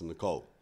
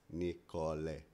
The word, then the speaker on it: Nicole: Because yeah, because in Australia it's Nicole. Yeah. And then in Portuguese it's Nicole. Mm-hmm. You know, you sound it all out phonetically.